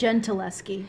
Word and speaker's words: Gentileschi: How do you pronounce that? Gentileschi.